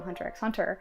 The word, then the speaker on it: Hunter x Hunter: to be Kurapika from Hunter x Hunter, and I want to be Kurapika, and do we're you both. pronounce the X? You're not supposed to.